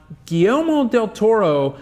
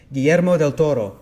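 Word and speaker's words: Guillermo del Toro: period because ABC went into pre-production right on gomo Del Toro doing an Incredible Hulk TV show let me help you with that pronunciation GMO Del Toro thank you you're welcome White so white doing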